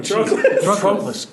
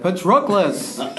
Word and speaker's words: Patroclus: Patroclus.